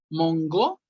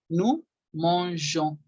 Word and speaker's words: nous mangeons: Agregan una E antes de la terminación ONS para que ahora sí diga, ahora sí se haga el sonido de je y ya se diga, se pronuncie nous mangeons, nous mangeons.